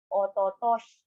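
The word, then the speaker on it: 一昨年: So year is nen, but 2 years before is ototoshi. Again, 2 years before is ototoshi. Again, one time per syllable. Slowly, ototoshi.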